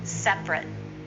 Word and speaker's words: separate: me restaurant Seth RIT is often separate two syllables say that with me